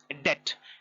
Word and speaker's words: debt: Now small farmers journey of investment start from debt. D-E-B-T, debt. Do not pronounce it as debt. It is not debt. It is a wrong pronunciation. The correct pronunciation is D-E-B-T, debt. B is silent.